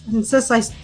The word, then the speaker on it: Enensys: Enensys, I'm trying to pronounce that one correctly. Enensys? Enensys? That's not so complicated, yeah.